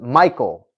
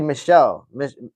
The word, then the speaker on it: Michel: I thought it was as Michael, as in Michael. Nah, it's actually Michelle, like Mitchell, but like Michelle Pereira.